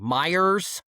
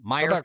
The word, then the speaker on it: Meijer: I admire Meijer had the Sunkist Meijer had it No, you said it wrong. Meijer's I hate when people I hate when people put the S on it. Meijer Kroger's?